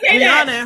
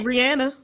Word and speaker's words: Rihanna: she say either way y'all call Rihanna Ranna her name is Rihanna right and when you ask her name she tells you how to pronounce it so if you're still